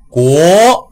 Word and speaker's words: 国: 国，对，但是你的起调稍微有点低，因为阳平调我们叫高声调嘛，它是从三到五这个跨度，所以起调的时候要高一点，是国国